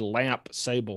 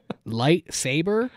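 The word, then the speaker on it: lightsaber: I think he said lamp sable. How do you say it? Light saber, which also in no way converts to lamp sable.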